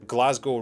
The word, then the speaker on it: Glasgow: scotland and they said glasgow rhymes with snow not cow and that was it